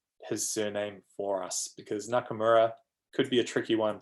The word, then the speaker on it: Nakamura: often on the ielts listening test that's close it's spelt n a k a m u r a so danny corrected the other speaker it's not